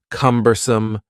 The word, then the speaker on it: cumbersome: the word word cumbersome has three syllables and the stress is on the first syllable cumbersome cumbersome something that is